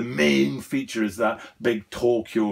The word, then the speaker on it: Tokyo: The pronunciation of Tokyo is actually Tokyo. That's how it's pronounced in Japanese.